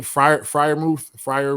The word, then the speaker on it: Freiermuth: Freiermuth?